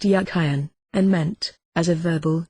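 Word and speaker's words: Jachin: meaning of it names the word jiten in Hebrew probably pronounced yakan and meant as a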